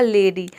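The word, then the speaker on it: lady: को ए प्रोनाउंस करेंगे देखिए एल का ल हो जाएगा ए का हो जाएगा ए डी का हो जाएगा ड वाई का हो जाएगा यहां पे ई पूरा हो जाएगा लेडी लेडी का मतलब होता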